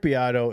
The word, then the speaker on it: Beato: You know, Rick Beato is like Is that how you say it?